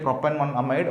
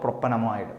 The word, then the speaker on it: propanamide: question propane one amide either I can say it like proper amide or propanamide both are correct understood so we will